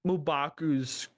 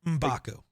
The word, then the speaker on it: M'Baku: I think M'Baku's grouping has a different god. M'Baku, but close enough. M'Baku. Did I not say it right? The first time, no. Oh, okay.